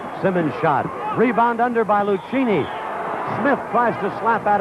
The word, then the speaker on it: Lucchini: Lucchini is spelled L-U-C-H-I-N-I. He said it's Lucchini.